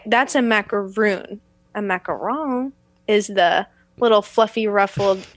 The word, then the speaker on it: macaron: You say macaron?